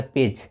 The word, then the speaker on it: page: तो PS से हो गया पे और GE से हो गया ज, तो हो गया पेज।